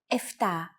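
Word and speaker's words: εφτά: for numbers sometimes though especially in casual conversation Greeks also use efta instead of eptah octo instead of octo and Enya instead of Anya so if you notice someone using these words don't be surprised they're exactly the same as the ones you have learned actually yours are more correct after only two lessons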